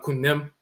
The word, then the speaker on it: Khnum: But Ni-Ankh Khnum and Khnum Hetep, 5th dynasty in Kamet. Who are they named after? The flat-horned ram divinity named Khnum, which we pronounce in Akan Kunim, the potter deity.